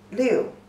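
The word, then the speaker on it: 六: meaning but just remember this is number six pronunciation is le you the first tone leo leo liu don't you know this is a bit confusing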